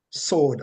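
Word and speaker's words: סוד: English as COWD, and it is pronounced sowed, almost like you say you sowed, some seed in the garden, or you sewed a shirt or something.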